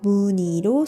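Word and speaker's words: 무늬: 한이바람과 같이 자음 니은을 첫소리로 가지는 의는 무거운 것을 싫어하는 의가 탈락한 뒤 니로 발음해야 합니다. 그래서 무니로 소리냅니다.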